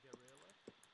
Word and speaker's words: guerrilla: And if you want a hard G with an E or an I, what you do is you put a U in between. Ge, gi. Notice that I don't pronounce the U. Gue, gui. I say ge and gi.